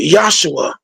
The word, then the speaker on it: Yahshua: Some say Yahweh Shah, but I kind of rock with Yahshua. He is the saved, or he is the saved. Yeah, Joshua. That's why we pronounce it that way.